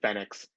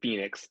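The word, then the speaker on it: Fénix: one that calls him fenix everyone else calls him phoenix is this an inside joke is this a thing justin roberts is the only one pronouncing it correctly as far as i'm concerned and everyone else is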